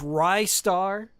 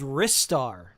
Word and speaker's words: Ristar: Some people say it's Ryar. ry star like rising star but I think it's called wristar and the reason why is